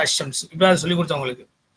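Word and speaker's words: الشمس: Okay, so when al is prefixed to the noun beginning with the solar letter, the lam of al is assimilated to the solar letter. இப்போ example Al Shams becomes is pronounced அஷம்ஸ்.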